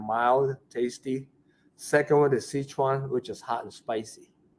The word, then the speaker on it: Sichuan: It's hard to pronounce it. Szechun. Sichuan.